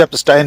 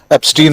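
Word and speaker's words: Epstein: आपने ठीक कहा, उच्चारण राहुल गांधी ने भी एप्स्टाइन ही कहा था, हम लोग भारतीय लोग उसको एप्स्टीन ही कह रहे हैं।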